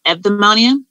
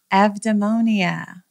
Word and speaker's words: Eudaimonia: Everything, the U is pronounced as a V, so it's Eudaimonia. It's a Greek word and it means human flourishing. Eudaimonia.